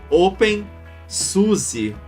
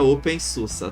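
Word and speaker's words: openSUSE: pessoal chama pelo nome errado que é o open Suzi que na verdade se pronuncia Open Susa Tá bom então quando vocês irem escrito Suzi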